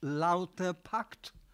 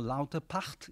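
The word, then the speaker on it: Lauterpacht: Hang his name is Hirsch lauterpact or lauterpart if you if you pronounce it in the in the original language was the most prominent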